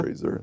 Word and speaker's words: Fraser: Fraser.